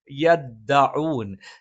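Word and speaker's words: يَدَّعُونَ: യദ്ദഊൻ ത ഉച്ചരിക്കുന്ന സമയത്ത് പല ആളുകളും യദ്ദ എന്ന് പറഞ്ഞിട്ട് ഈ കാറ്റ് പുറത്തേക്ക് വരുന്ന ഒരു രീതിയിൽ ഉച്ചരിക്കാറുണ്ട്. അത് ശരിയായ ഉച്ചാരണമല്ല. കാറ്റ് വരാതെ യദ്ദ എന്ന് ഉച്ചരിക്കണം. ലഹും ഫീഹാ ഫാകിഹത്തുൻ വലഹും മാ യദ്ദഊൻ. യദ്ദഊൻ അല്ലാതെ യദ്ദ എന്ന് കാറ്റ് വരുന്ന രീതിയിൽ ഉച്ചരിക്കാൻ പാടില്ലാത്തതാണ്. സലാമുൻ ഖൗലൻ മിർ റബ്ബിർ റഹീം.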